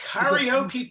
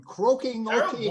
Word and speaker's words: karaoke: Okay, number oh, Laura, 38 is karaoke party. a 3-hour karaoke party from Croaking OK What? Karaoke. And it's a $300 value. Karaoke. Can you not say it properly when you come from Scotland? Well, I'll try.